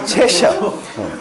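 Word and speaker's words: 체셔: 이 고양이가 채서 고양이라고 해요. 채서 고양이. 발음이 좀 안 좋습니까? 채셔.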